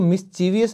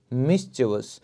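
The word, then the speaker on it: mischievous: तो एक जो मिस्chievous, तो दोस्तों इसको मिस्चीवियस नहीं बोलेंगे, वो गलत प्रोनाउंसिएशन है, इसे आप बोलेंगे मिस्chievous।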